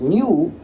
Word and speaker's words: GNU: quién querría repetir en el entonces si dices new evidentemente es bastante fácil y otros lo dirán